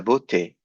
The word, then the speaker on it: beauté: And this one, E-A-U, you know is pronounced O. And then this one is E. Donc, je répète lentement. Il est impossible de définir la beauté.